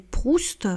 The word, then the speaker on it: Proust: nom, mais donc là, on n'applique pas la règle de ne pas prononcer la consonne finale, parce que c'est un nom de famille.